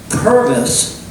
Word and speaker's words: Purvis: And by the way, remember, Purvis rhymes with Congress, sort of. This is your second language, right? I just want to make sure. All right. It kind of rhymes.